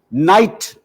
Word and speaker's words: knight: so they got cracking this is why knight is spelled k-n-i-g-h-t do you ever pronounce the k no of course not why is gnome g-n-o-m-e